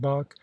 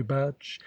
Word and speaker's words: Bach: thought great things of Bach whom I found I was calling quite incorrectly batch and Mozart who also